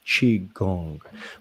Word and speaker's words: qigong: uh very good so it's actually spelled q i g o n g and pronounced chi gong that is right so